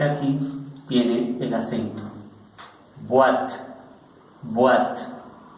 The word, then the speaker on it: boîte: Boîte, boîte. Más adelante les voy a enseñar cómo se pronuncia esta O con esta I, que suena una U-A.